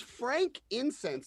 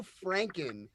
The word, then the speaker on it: frankincense: It's Frank incense. There is no Franken in it. It's not. You know, guys. Frankincense. Franken. The way it's spelled is an incense named after a guy named Frank.